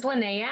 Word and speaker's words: Linnea: names so what's your name my name is lynnea i go you know by lynnae beautiful and leanne lynnea lynnea what's your superpower um my superpower would